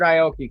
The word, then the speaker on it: Aoki: know how to say this guy's name richard aoki amen oh yeah richard yeah that's how you say it richard aoki came in the japanese brother who gave he